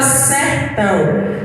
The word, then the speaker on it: sertão: A palavra sertão, a sílaba forte dessa palavra sertão é ão.